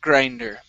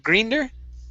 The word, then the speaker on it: grinder: is grinder the knife grinder instead of grener grinder the knife grinder all right very good